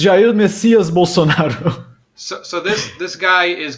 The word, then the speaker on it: Jair Messias Bolsonaro: Yes, it's Jair Messias Bolsonaro.